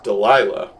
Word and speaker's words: Delilah: to get that straight it's delilah and i can't believe it took me this many videos to actually realize i've been saying it wrong the whole time i just think that's